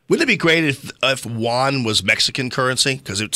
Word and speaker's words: yuan: But I think they're not purposely responding, keeping the yuan. Right. That's how you pronounce it, low.